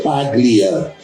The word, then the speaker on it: Paglia: Tem o G, Paglia, mas o G desaparece. Imbróglio, tem o G, imbróglio. O G desaparece, fica imbróglio.